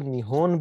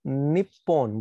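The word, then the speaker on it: 日本: में भी होता है, जब टू वर्ड्स मिलते हैं तो कभी कभी प्रोनाउंसिएशन में थोड़ा सा चेंज भी आता है। तो जैसे नी प्लस होन जब हो रहा है तो निहोन भी हो सकता है, और निप्पोन, ये देखिए निप्पोन लिखा हुआ है।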